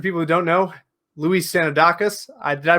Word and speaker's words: Sanoudakis: things first for people who don't know luis sanodakis i did i pronounced that correctly perfect look better than most